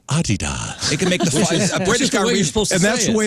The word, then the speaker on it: Adidas: a sale today on Adidas yeah he says Adidas and that's the way it's pronounced by the way it is a British